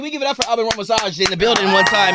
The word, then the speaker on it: Alban Ramosaj: So, like, in Albanian, you would say Alban Ramosaj. Ramosaj.